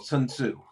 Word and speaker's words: Sun Tzu: And um the Chinese general Sun Tzu, which I'm I know I don't pronounce right, uh No, it's all right.